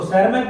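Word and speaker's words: Tschermak: कॉरिन साहब जर्मनी के, Hugo de Vries Holland के, सेरमैक, उसको सेरमैक बोलिए, टीसरमैक बोलिए, टी साइलेंट करके सेरमैक बोलिए, ऑस्ट्रिया के।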